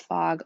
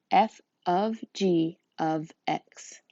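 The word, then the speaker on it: f∘g(x): Do not call this fog. Oh my gosh, that's so annoying. It is pronounced f of g of x.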